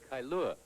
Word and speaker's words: Kailua: live in hawaii here's the how do you pronounce that place kailua kailua and that's kaneohe hawaii kaneohe hawaii and